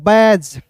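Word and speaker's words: badge: बैज बी ए से देखिए यहां पे डी को साइलेंट कीजिएगा तो बी का दोस्तों ब लिखिएगा। जी का दोस्तों ज लिखिएगा। क्लियर? अब देखिए यहां पे यहां पे दोस्तों ए है तो याद रखिएगा दोस्तों यहां पे बैज। इसे पढ़ेंगे दोस्तों बैज के रूप में उच्चारण करेंगे। अंतिम में भी इर होता है दोस्तों। ये भी साइलेंट होता है।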